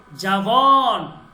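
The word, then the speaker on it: جوان: জাওয়ান মানে যুবক। আমরা যেটাকে জোয়ান বলি, বাংলায় যেটাকে উচ্চারণ করি জোয়ান, এটা মূলত ফার্সি।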